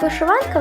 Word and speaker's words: вишиванка: і шовк історично слово вишиванка вживалося в значенні вишиваного предмета вишитої сорочки або вишивки в сучасному значенні наголосу сові можливо як на другий так і на третій склад сучасні митці і дизайнери